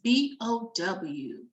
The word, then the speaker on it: bow: It's B-O-W. Okay, and we pronounce that when it comes to this, the bow.